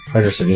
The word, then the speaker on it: Hydrocity: Hydro City Zone. Yeah, because some people say Hydrocity. I used to say it like that too when I was little. Team Lopes has actually confirmed that it was Hydrocity, but everyone that says